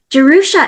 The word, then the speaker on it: Jerusha: It's originally an old Hebrew name from the Old Testament. Originally j e r like Jerusalem.